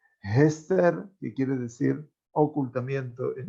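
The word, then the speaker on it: אסתר: Pero la Megilá obviamente fue escrita en hebreo y hay un sentido también para la pronunciación hebrea del nombre Esther, que es con la letra Hei, Hester, que quiere decir ocultamiento, en este caso, de la presencia divina.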